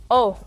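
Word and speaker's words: Å: It's not called A, it's called O. Even though it's written with an A, but since it has the little circle on top, it's pronounced O, and it's the last letter of the alphabet.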